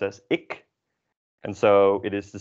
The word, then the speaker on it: ik: So the first one is pronounced as ik, and so it is the same as the second one, prikken, which means to poke.